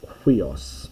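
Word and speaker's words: υἱός: hard breathing, and so it's got a wee sound to it, a wee, so it's like wee. So for example, this word here is pronounced huios.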